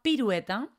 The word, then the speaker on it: pirueta: Por una parte está pirueta y por otra parte está piruleta. Fíjate que la única diferencia es una L. Pirueta, piruleta. De hecho, en pirueta a veces la gente tiene problemas para pronunciar UE.